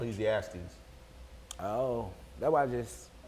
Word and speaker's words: Ecclesiastes: Ecclesiastics. There's no X, but it's Pretty much. Ecclesiastes.